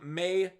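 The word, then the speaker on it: Maye: when they're rating me marcus main i always say main but i'm wrong may i'm sorry i say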